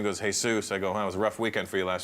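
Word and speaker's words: Jesús: Mexican people there and they love the name Jesus but they pronounce it hey soos yeah and I was okay what's your name goes hey soos I go I was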